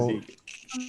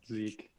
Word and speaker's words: Zeke: Hey, I'm Zeke. thank you for that. So just so you know, my name is pronounced like this, Zeke. Zeke. Okay. Not like Ze.